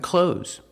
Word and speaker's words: clothes: Clothes. Use the long O like no and go. Clo and the Z sound like zebra. Z. Clothes.